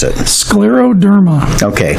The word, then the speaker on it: scleroderma: an autoimmune disease crews and how do you pronounce it the scleroderma okay it's Latin for hard skin s Cler